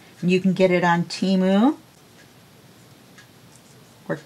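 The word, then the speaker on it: Temu: but to them it's to me it sounded like Shamu like the whale when they uh set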